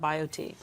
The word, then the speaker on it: BioTE: happier log on to biot medical dot com and biot is spelled b i o t e so bio t medical dot com easy read